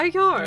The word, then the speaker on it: Ajar: Yeah, and when Adrian had you switch out the Y for the J, you pronounced it perfectly. Like gold English standard perfect. I get confused. So now you just need to Just need to forever, swap your Y.